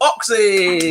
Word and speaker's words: OKSE: I used to spell it OXY, but then they brought out the spot cream, so I changed it.